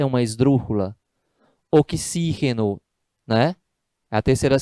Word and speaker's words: oxígeno: Oxígeno, né? A terceira sílaba tônica, esdrúxula.